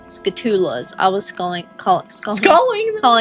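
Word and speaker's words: Skulltula: They're called skatulas. I was calling calling them calling them scalletas. Scalletas. I was getting it kind of backward like the T and the L were like flipping for some reason when I read it.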